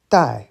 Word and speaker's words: 戴: Dai, fourth tone.